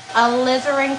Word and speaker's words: alizarin: elizabeth the name uh like a lizard so i don't know